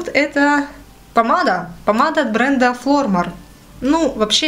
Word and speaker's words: Flormar: Помада от бренда Flormar. Ну, вообще, я вот сейчас включила и думала, на какой слог ставить ударение. Девушка-турчанка произносила как Flormar. Flormar. Ну, то есть, как бы ударение на первый слог, вроде как.